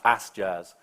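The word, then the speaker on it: AS.js: the app server um the official pronunciation of as. JS is as Jazz um and we haven't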